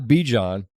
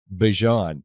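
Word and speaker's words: Bijan: Not Bejon. Bjon. That's from his mouth. So I know how to say the name.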